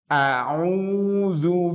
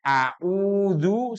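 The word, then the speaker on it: أعوذ: Au-nya itu ain. Itu sudah di kerongkongan. Mohon maaf kalau kita membacanya a'udzu sama-sama a'udzu itu pasti salah. Tapi kalau setelah baca a kerasa di sini, itu baru benar.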